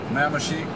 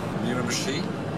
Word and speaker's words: Miramichi: Miramichi, this is the pronunciation. Miramichi, et voilà.